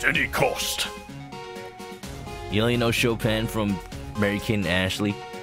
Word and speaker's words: Chopin: time and he's like oh man i love chopping and his sister's like it's pronounced chopin chopping that's one of the things from the